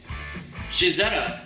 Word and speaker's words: Cizeta: his own car company Shahzada is the Italian pronunciation of Claudia's initials cz Claudio can be seen